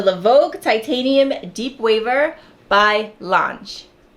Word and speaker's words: l'ange: brush and in that video I called them Lang the entire time I later found out the brand is actually pronounced launch launch launch I believe launch so anyway we